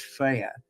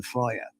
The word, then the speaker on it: Freya: And there's the thing, of course, everybody now says Freya because that's the modern pronunciation in the Scandinavian language. Old Norse, it would have been Freya, you know.